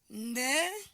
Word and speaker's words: beneficial: So the stress is on the word ni. So the word is pronounced as beneficial. That is the correct way of pronouncing this word, and that is why the stress is on what? The second syllable.